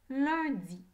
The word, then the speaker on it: lundi: Il y a 5 lettres dans le mot lundi. Lundi. U et N ensemble font le son 1. Lundi.